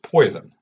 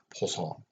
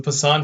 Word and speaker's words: Poisson: That said, I know how it is not pronounced, and it is not pronounced Poisson. It is not the Poisson distribution, as I keep getting students want to tell me. It's Poisson, or something like that.